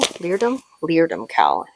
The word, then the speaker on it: Leerdam: Leerdam cowl.